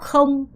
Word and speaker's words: không: 자, 그 다음에 요거는 요렇게 발음해야죠. không 이렇게 발음하셔야 되는데 거라는 단어는 갖고 있다라는 뜻을 갖고 있습니다.